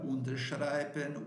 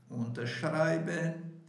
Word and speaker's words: unterschreiben: Unterschreiben, unterbringen, wiederholen, wiederkommen. Percebeu que nesse caso aqui, nenhuma dessas palavras ela tem, suponhamos, a sílaba tônica no prefixo. Unterschreiben, unterbringen, wiederholen, wiederkommen.